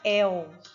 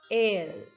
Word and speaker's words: el: Observe que você não pode pronunciar el. Esse el, o L terminando com o som de U no final, igual ao português, no espanhol você não vai utilizá-lo dessa forma. Você vai pronunciar el.